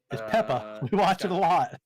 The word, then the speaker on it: Peppa: can't pronounce peppa pig good articulation pepper um no it's peppa we watch it a